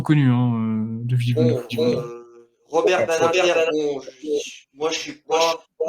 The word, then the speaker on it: Badinter: 15 ans élu, Batinder, je le prononce pas très bien. Il est né en 1928 d'ailleurs, hein, il est né la même année que notre ami Jean-Marie Le Pen. Badinter. Ah oui, je les prononce à l'allemande.